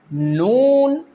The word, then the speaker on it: ن: The first one is Laam, Noon, Ra. Okay? What is the makharij of these 3 letters? When the tip of your tongue touches the upper gums, then these 3 letters will pronounce correctly.